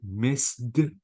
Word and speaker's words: missed: Notice, guys, the ED here, I have to say missed without E sound, played without E sound, but wanted, I pronounced the E sound.